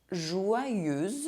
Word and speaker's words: joyeuse: [z] sound [z] like the little bee Joyeuse Joyful Une serveuse A waitress EU is pronounced [ø] if followed by a [t] sound